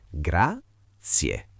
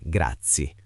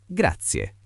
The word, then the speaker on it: grazie: Ricordatevi di pronunciarla bene, grazie, con la E finale ben chiara. Non grazie, ma grazie.